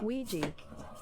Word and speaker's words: Ouija: To give us the proper pronunciation of this word. Ouija.